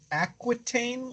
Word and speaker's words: Aquitaine: I've Is heard that all of the Aquitaine one?